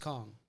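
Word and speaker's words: Khang: King Kong yeah but it's spelled k-h-a-n-g okay pronounced Kong what is the Vietnamese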